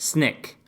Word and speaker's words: SNCC: Student Nonviolent Coordinating Committee SNCC pronounced snick snick statement of purpose